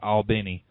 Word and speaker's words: Albany: would be albany yeah actually i could pronounce it all benny albany georgia's track would